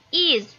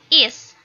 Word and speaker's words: is: And for the negative, isn't atau is not ya, dibacanya is, not is, but is, tapi is ya, pakai z.